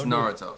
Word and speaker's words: Naruto: It's Naruto. Say it right.